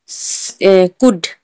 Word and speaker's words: could: कुड, COULD, कुड, यहाँ पर डी से पहले एल है तो एल साइलेंट होगा।